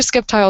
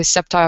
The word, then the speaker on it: Sceptile: I have heard people say Sceptile. I've heard Sceptile. I say it as Sceptile. I'm probably not supposed to pronounce that C. I'm probably not supposed to pronounce that C at all.